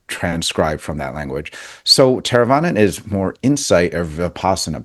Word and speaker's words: Theravada: Theravada.